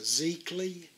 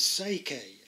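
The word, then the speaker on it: Szekely: A lot of people call it a Zeekly or a Zeke, but I think the proper pronunciation for that little engine is Seike, and it's 190 cubic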